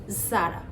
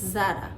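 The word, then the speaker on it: Zara: এটা অনেকেই বলে থাকেন হারমিস কিন্তু না এটার উচ্চারণটা হবে আর্মিস এটাও একটা ফ্রেঞ্চ ব্র্যান্ড নেক্সট যে ব্র্যান্ডের নাম বলবো সেটা হলো যারা নট যারা ইটস যারা এবার আপনারা যে ব্র্যান্ডের নামটি দেখছেন এটা হচ্ছে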